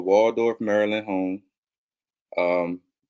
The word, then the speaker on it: Maryland: Maryland home um not it's Maryland not I don't know how people not from Maryland say Maryland but I know how it's spelled but that's incorrect how it's spelled it's Maryland okay uh I can give